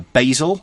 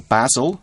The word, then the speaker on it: basil: making perfume for example a basil or basil again different pronunciations we have foreign countries